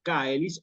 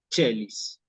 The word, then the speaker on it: caeli: queda como Che sí cicerón le hubiera dicho Regina caelis orejina caelis nosotros decimos Regina o estamos acostumbrados a decir Regina chelis ese esta a con